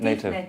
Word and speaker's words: native: Native. Native. With a V.